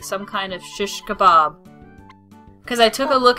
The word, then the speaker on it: shish kebab: I'm probably mispronouncing that how do you say that shish kebab shish kebab I was saying shsh I was I was I was putting a w in there somehow yeah you were yeah